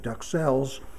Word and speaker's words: duxelles: they say something like dusseld or something like that but every chef in america calls it duck cells pronouncing the s at the end and pronouncing the x so that's just the